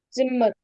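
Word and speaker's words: Zimmer: Simmer. Simmer. Not Z. It's simmer. Simma means room.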